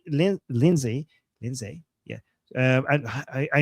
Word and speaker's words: Lindsay: Uh, GG with the super chat saying James Lindley Lindsay Lindsay.